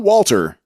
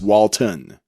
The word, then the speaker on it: Walton: gonna search for him it's not walter it's walton walton w-a-l-t-o-n goggins for all of you